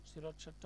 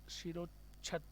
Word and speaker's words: শিরশ্ছেদ: শিরোচ্ছেদ এর এটা হলো একটা বিশেষ্য অর্থাৎ নাউন শিরোচ্ছেদটা হলো একটা নাউন এর সঠিক উচ্চারণ হচ্ছে শিরোচ্ছেদ উচ্চারণ হবে শিরোচ্ছেদ দেওয়া থেকে মাথা ছিন্ন করাকে